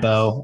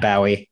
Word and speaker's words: Bowe: same day but uh matt beau or matt bowie uh as i've heard it pronounced both ways uh going to cal